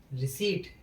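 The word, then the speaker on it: receipt: रिसीट रिसीट माने रसीद। अब देखो पी के बाद यहां टी आया है। तो यहां पर भी पी अपना साइलेंट रहेगा।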